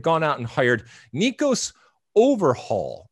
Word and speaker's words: Overheul: and hired nicos overhaul i don't know if i'm pronouncing that it's it's o v e r h e u l so we're gonna call him nicos nicos is great i mean i like that but i think it's overhaul or there's probably you know some sort of accent or pronunciation that i'm that i'm not quite there but anyway nico's overhaul